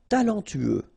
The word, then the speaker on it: talentueux: talentueux. Final X not pronounced. Then you get this U together. Then TU, tueux. Talentueux.